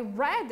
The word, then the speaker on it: read: Por incrível que pareça, se escreve da mesma maneira, só que se pronuncia de um jeito diferente. I read a book, eu leio um livro. I read a book, eu li um livro. É a mesma pronúncia da cor vermelha em inglês, só que se escreve